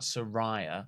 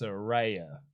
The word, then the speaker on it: Saraya: knighted Rey Mysterio Mysterio Sarah not Soraya no sir Ray it's not psoriasis it's Saraya I think you just